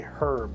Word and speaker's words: herb: know like I say herb because there's an H in it right what it it it's only silent here in the states uh Johnny Zed saying